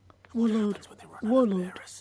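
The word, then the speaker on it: Waloed: Minimal loss of Waloda lives. Warlord. Okay, that's how you pronounce it.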